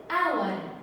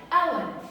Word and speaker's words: hour: We waited for hour before. So I have hour. Hour. The H is silent and the words start with the vowel, with the sound of the vowel, hour.